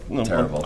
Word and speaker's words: El Terrible: Terrible. I'm phonetically spelling. Gotta throw a little stank on it. Yeah, exactly. You gotta roll those R's.